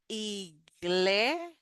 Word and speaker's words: iglesia: So here we have a cluster of G and L. Gl. So that is like a G, like girl, g, g. That is the sound that we make there. Then iglesia, iglesia, iglesia.